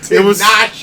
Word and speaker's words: Tinashe: He pronounced it correctly. Tinashe, okay.